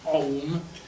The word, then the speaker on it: aum: valami ez az aum mert az nem om hanem aum és a kimondtam hog